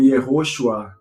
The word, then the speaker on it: Yehoshua: E ele traz termos como, por exemplo, João, ele vai dizer Yoshanan, Jesus vai estar como Yeshua, Josué vai estar como Yehoshua.